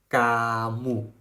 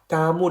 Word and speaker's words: kamu: just emphasized it again The "k" is the soft sound of "g" We should pronounce it